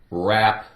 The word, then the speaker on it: wrap: Take away the W. Rap.